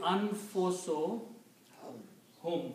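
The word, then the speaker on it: أنفسهم: When you combine these two and read together, you do not pronounce one dhamma here. It will be anfuso hum.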